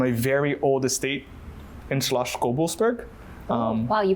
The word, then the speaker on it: Schloss Gobelsberg: young rosé from a very old estate in Schloss Gobelsberg. Wow, you pronounced that perfectly.